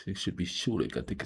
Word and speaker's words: Čolić: Okay, somebody told me how to pronounce uh the last name and I think it should be Shulik and not Coic. It should be Shulik.